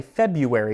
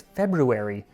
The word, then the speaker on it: February: I just want to say February, but it's February. But it sounds weird when I say February.